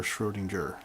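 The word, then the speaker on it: Schrödinger: in the past shrewd endure not sure leaner Schroedinger okay I learned how to pronounce that all right what about the other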